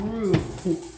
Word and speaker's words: roux: It's called roux. And everybody who's in the South understands this is the roux. You know, roux rhymes with poo.